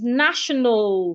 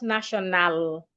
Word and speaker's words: national: Another example of such word is national, not national. National. So when you have words ending in AL, remember, treat the A as a silent letter. Do not articulate it.